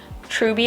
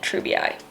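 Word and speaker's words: treubii: like slightly more expensive ones is this skinnexus treby moonlight really quick editing emma here um i learned after i filmed this video that it's pronounced true bi i should have known that but i didn't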